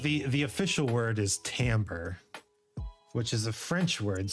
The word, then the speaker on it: timbre: the official word is tamper which is a French word so it's spelled awfully laughs it's spelled like that uh September yeah it's pronounced Timbre because it's French and you can count